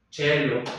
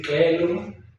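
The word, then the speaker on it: caelum: a es K, pero cuando va con la ló che chielo, ¿verdad? Chivis. Entonces se dejó de decir kelum kibis, que era la pronado al modo clásico y pasó a ser de otra manera.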